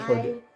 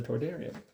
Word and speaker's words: Toydaria: And what did Toydaria? Yeah. Toydaria. Toydaria. Sounds like toy and daria.